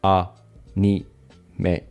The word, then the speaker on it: anime: Both are pronounced with the ah-nee-may. But there are two different pitch accents. Listen and repeat after Yumi. Anime, anime, anime, anime, anime, anime。